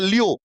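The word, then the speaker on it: Lyon: लन हो गया और कहीं-कहीं पे इंग्लिश में से प्रोनाउंसिएशन करते हैं लियो वहां पे एन को साइलेंट कर देते हैं ठीक है तो आप लियोन ही याद रख लेंगे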